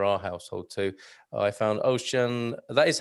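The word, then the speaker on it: Auchan: i buy for our household too i found ocean that is how to pronounce it right ocean large stores are the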